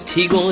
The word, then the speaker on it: Teagle: i'm joined today with is it teagle is how you pronounce that eagle that's right eagle all right